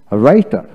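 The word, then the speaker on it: writer: তারপর আসেন রাইটার রাইটার আর এ আই টি ই আর রাইটার, ডাব্লু উচ্চারণ হলো না।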